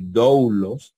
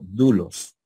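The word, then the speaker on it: δοῦλος: saben que se pronuncia no van a decir douglos sino dulos dulos con acento verdad con acento en circunflejo en la en la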